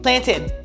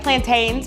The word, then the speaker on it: plantain: Plantin in Liber we say plantin that that a plantin. People will be like plantains. Plantain. I don't know. Comment below. Tell me how you pronounce it.